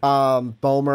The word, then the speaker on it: Bomer: pronounce it? Bomer, I think is how you said it correctly.